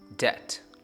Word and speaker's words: debt: In BT series, we say subtle, doubt, doubtful debt.